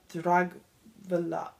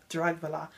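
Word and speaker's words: Dragwlya: So instead of Vlad, it is Lada Dragvila. That's a W. I'm going to pronounce it like Molly does. Lada Dragvila.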